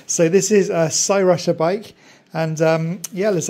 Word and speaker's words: Cyrusher: this is the make of this is called s rusher I was going to say Crusher so it's lucky I had a quick look so I could pronounce it right so this is a sa rushia bike and um yeah let's open up and